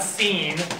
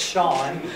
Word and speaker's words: Sean: they spell it differently It's s e a not it's not scen it's Shan and it's not spelled s ha u n or whatever it's like Shan connory or pen that's who